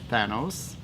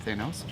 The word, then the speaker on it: Thanos: like the Mad Despot THANOS, that's how you pronounce it, not Thanos, or an ongoing title that's starting something fresh, like here, Squadron Supreme #13, a clever play on words.